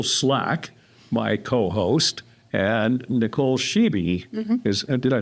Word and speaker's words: Schibi: Nicole Slack, my co-host, and Nicole Sheeby is, did I say that right?